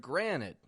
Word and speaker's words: granite: that confusion is that we make the T in the middle disappear with the word Granite g r a n t d granite and the endings are almost indistinguishable now that t is